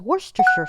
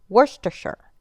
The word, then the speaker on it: Worcestershire: this British sauce is worcestershire sauce now think about it when's the last time you said New Hampshire it's New Hampshire Worcestershire you want to saute